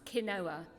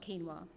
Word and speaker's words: quinoa: three years where i actually learned it is pronounced quinoa not quinoa these were my antecedents but my trigger to